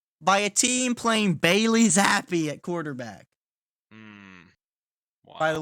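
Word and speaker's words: Zappe: a team playing Bailey Zappi at quarterback. Wow. By the way, little tidbit, his name should be pronounced Zap, and I'm angry at reality.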